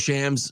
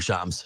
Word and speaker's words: Shams: And it was a little bit because Shams was like, or Shams, sorry, I'll pronounce it right.